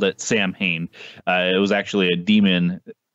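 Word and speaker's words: Samhain: in my late teens that it was uh pronounced sewing because we used to have a place in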